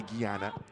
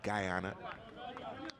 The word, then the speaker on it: Guyana: uncle is named G so I might say Gana I might just pop in my head but in English gy is guy so it might be Guyana so if you hear both pronunciations it's the the French and English in my head battling with each other back and forth 11 minutes in or 12